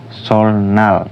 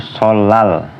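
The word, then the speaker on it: 설날: jadi l contohnya nih sol Nal tulisannya kan sol Nal tapi dibaca itu solal solal yang artinya itu hari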